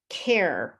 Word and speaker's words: care: For example, the silent E, cake, you don't hear the E, care, you don't hear the E, watched, there's no ED.